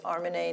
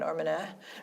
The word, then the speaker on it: Armineh: I know that the pronunciation of your name is Armineh, not Armineh, because I listened to